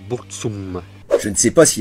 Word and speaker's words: Burzum: non sasy pa bozoum ça se dit bourg tout ça mais en vrai ça ne se dit ni beurre zoom niebuhr zoom vous saurez pour votre culture personnelle qui en fait ça se prononce pour tsun je ne sais pas